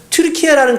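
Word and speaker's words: Türkiye: 원래는 투르크라고 불렀는데 이게 미국 사람들이 발음으로 하다 보니까 튀르키예라는 그 단어를 그냥 미국식으로 발음하니까 터키가 되는 거예요.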